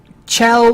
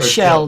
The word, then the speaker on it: Chell: picture of it gel Chell or shell depending on how you pronounce it it's c h e